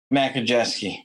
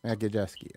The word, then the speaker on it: Majewski: How do you pronounce it again? Majewski. Majewski.